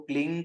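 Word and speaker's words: क्लीं: मंत्र का जो प्रोनाउंसिएशन है वो क्लिंग कृष्ण क्लिंग है।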